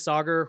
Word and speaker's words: Sagar: My name is Sagar, rhymes with Lager.